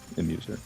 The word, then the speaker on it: Emuser: Yeah, Uh, it's Emuser. Just think of it like me trying to amuse people. oh, okay, there we go. Emuser, got it. And we have two runs from Emuser and a guy named Prales or Prales or something.